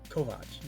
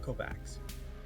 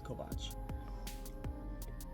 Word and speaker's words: Kovacs: No, it's Kovacs, not Kovacs. It looks like Kovacs, but it's Kovacs. Russian thing, I think.